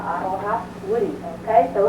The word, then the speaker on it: aroha: Not like the word aloha. We have the same word, but instead of having an L, we have an R, and we say aroha. Sounds the same, pronounced very similar. It's just look that R, roll the R, aroha, wiri.